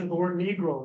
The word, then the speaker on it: Negro: uh you know and it's over the pronounce pronunciation of the word negro it's not Negra it's Negro and uh at one point the